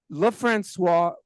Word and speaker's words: LeFrancois: And whereas LeFrancois rhymes with je ne sais quoi, that was not in yours.